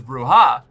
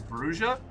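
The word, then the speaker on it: Brujah: Um, I originally thought it was Bruya. Then I thought it was Bruha because I assumed Spanish and is technically correct. But apparently the first edition Vampire the Masquerade book explains that uh the pronunciation in universe is Brua.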